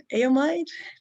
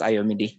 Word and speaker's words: Ayomide: Aomide, would like to invite you to ask your question. Hello. Hello, can you hear me? Yes. Great. All right. Actually, it's pronounced Ayomide, not Ayomide.